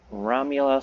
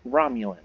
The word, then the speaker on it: Romulan: annexed this planet in the name of the romula star Empire Romulan it's pronounced Romulan romulans I've read about them while I was